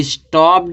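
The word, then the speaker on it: stopped: इसी तरह से स्टॉप दिया, स्टॉप लास्ट में पी है, हमने क्या जोड़ दिया, ईडी, तो इस ईडी को उच्चारण क्या निकलेगा, टा निकलेगा। ठीक है, तो स्टॉप्ड है, इसको नहीं पढ़ेंगे, स्टॉप्ड पढ़ते, स्टॉप्ड।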